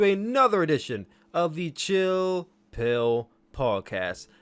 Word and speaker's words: Spill: edition of the Chill Pill podcast. And that's pill spelled with an S, but it's silent, much like the rest of America when the results come in for tonight's presidential election.